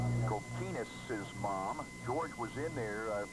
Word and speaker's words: Kokinis: I'm his mom, so I can tell you it's pronounced Kokinis with the emphasis on the key.